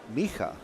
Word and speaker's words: Micha: is it Micha, like the way you say the German word ich for I, and it is Micha in general apparently.